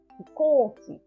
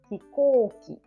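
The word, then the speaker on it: 飛行機: But this is O and U is, and we pronounce hikouki, hikouki. Like O sound is double.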